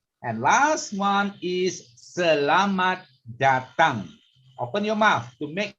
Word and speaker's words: datang: So you open your mouth. Selamat datang. Datang. Okay. So you just say tongue. You know tongue? Your tongue? So that's the sound. Okay. Selamat datang.